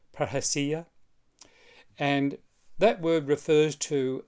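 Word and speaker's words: parrhesia: an Anglo sized version of it would be per Asia but it's more correctly pronounced per hacia and that word refers to a certain kind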